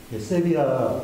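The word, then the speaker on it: Sevilla: 근데 세빌리아라는 말은 세계 어느 나라에도 없는 말입니다. 아마 우리나라 오페라가 처음 보급되던 초창기에 잘못 읽은 것이 계속 그렇게 전해지고 있다는 생각인데 이거는 완전히 틀린 발음입니다. 세비야, 보통은 세비야라고 발음하는 게 맞죠.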